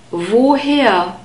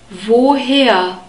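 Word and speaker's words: woher: war here where from whoa here the German w is always pronounced like the English V sound we have a long all sound whoa here oh whoa here and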